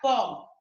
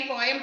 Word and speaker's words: poem: പോം എന്നാ പറയണ്ടോ? എം വേണ്ട, പോം. നമ്മൾ ഒരുപാട് കാലമായി പോയം പോയം എന്ന് പറയുന്നതുകൊണ്ട് നമുക്ക് പെട്ടെന്ന് അത് മാറ്റുക എന്ന് പറഞ്ഞാൽ ബുദ്ധിമുട്ടാണ്.